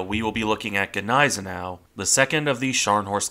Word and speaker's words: Gneisenau: the regularly mispronounced name is it Gau is it naau or is it nen na it really depends on which German you're asking and that's before you